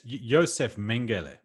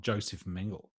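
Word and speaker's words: Josef Mengele: I mean, it's Yoseph Mangel. It's It's not Joseph Mingle. I mean, sure. I was just I was giving it the I was giving the the the Anglo pronunciation.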